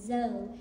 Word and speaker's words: Zoe: First, I want to clear up my name is Zoe, because my mommy calls me Zoe. The correct pronunciation is Zoe, which is Zoe's Wings Foundation.